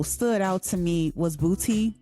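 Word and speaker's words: BPOTY: My next track that, you know, stood out to me was Booty. I think I'm saying it right, but it's it's spelled b p o t y featuring Too Short.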